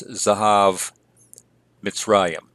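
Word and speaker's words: זהב מצרים: So if we have a full vowel in an originally open syllable that becomes pro-pretonic, that vowel typically reduces. And so here we have it reduced to a vocal schwa. So it's Zahav Mitzrayim.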